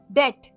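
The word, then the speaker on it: debt: के द्वारा तो कर्ज को कहते इंग्लिश में डेट डेट मतलब खर्च और याद रखिएगा सुबह साइलेंट होता है और जिसने कर लिया हो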